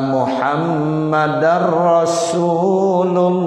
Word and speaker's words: Muhammadar Rasulullah: Asyhadu anna Muhammadar Rasulullah. Begitu. Jangan asyhadu anna Muhammadur Rasulullah. Salah ya.